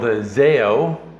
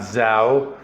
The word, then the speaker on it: Zao: the band is called zeo and that is actually the correct pronunciation not zao you know luckily i